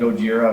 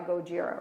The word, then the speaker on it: Gojira: And Gojira, of course.